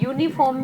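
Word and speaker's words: uniform: यहाँ भी यूनिफॉर्म में हम यू बोलते हैं. यू तो लिखा है, लिखने में वॉवल है बट बोलने में ये का साउंड है इसलिए वो वॉवल नहीं है.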